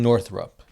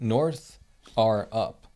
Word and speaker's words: Northrup: It's literally North R up. Northrup. Northrup.